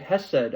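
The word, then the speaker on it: חסד: You start experiencing some of um chessed or some people pronounce it hessed.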